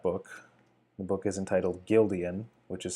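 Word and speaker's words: Guildeon: characters from that book the book is entitled Gildan which is spelled gu i l d e o n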